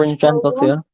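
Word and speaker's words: Brynjarsdóttir: I forgot how to pronounce her second name. Oh dear, yeah, we're so... Is it Brynjan Dottir? That's Brynjan Dottir.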